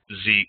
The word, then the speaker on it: xEAC: records, focused primarily around Zeek, as I pronounce it.